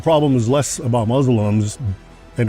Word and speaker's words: Muslim: And it's not Muslim, it's Muslim.